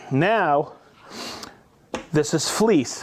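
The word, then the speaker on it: Vlies: Now, this is fleece. V L I E S. I've heard it pronounced a hundfold.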